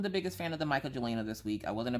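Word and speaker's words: Mkya Jelina: I wasn't the biggest fan of the Micah Jelina this week.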